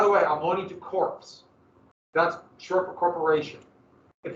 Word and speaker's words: corps: about like this that's the p is silent it's not marine corps